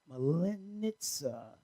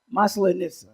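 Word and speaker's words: Масленица: Also, I would like to say Happy Mal- Malinitsa pancake. How do you say it? How do you say it? How do you say it? Maslenitsa.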